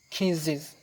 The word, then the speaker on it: kisses: when the letter S might sound like is มีหลายสถานการณ์คือกันบางครั้งอาจจะออกเสียง is For example kisses จูบ She kisses me เราจูบคอย Kiss me one